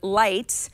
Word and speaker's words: Lightt: beast and that's why an app called light that's spelled like l i g HT but with another T on the end is trying something new